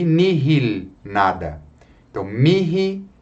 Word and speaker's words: nihil: O H só é pronunciado em 2 palavrinhas. Mihi, para mim, e nihil, nada. Então, mihi e nihil.